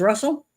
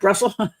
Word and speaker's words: Brussel: uh James Russell. I'm sorry. Um sorry. Um that's not correct. Brussel. I'm saying his name wrong.